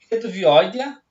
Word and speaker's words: Reduvioidea: Exemplo, superfamília Reduvioidea, e aí se lê Reduvioide, né?